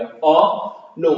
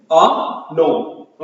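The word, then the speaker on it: un homme: अ नोम और साउंड जो होता है ना जैसे ये है एच तो ऐसे भी फ्रेंच में प्रोनाउंस नहीं होता।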